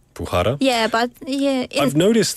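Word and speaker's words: Bukhara: your name it you don't pronounce the K. It's almost like a Yeah. Like like Bhara and your name is Sioaton.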